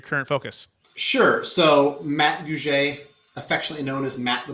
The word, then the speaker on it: Gouge: Please welcome to the show with me, Matt and Gouge is how you pronounce it, correct, Matt?